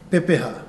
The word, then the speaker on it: Pepeha: going to introduce to you what we call Pepa so I want you to say with me P we break it into syllables P ha Pepa so a Pepa is